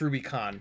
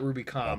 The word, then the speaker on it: Rubicon: It should be an N. It's Rubicon, not Rubicom.